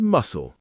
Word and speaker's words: muscle: We also have island with a silent S, biscuit with a silent U, receipt with a silent P, and muscle with a silent C.